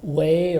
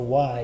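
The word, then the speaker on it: Wy: A little town called Way or Y, it's spelled W-Y in Belgium.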